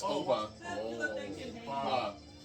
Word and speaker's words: Oba: What? Uba? It's It's Oba.